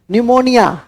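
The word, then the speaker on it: pneumonia: भी बहुत इंपॉर्टेंट है पी से शुरू होता है पी साइलेंट रहता है अंग्रेजी के कक्षा में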